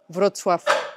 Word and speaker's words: Wrocław: Wrocław.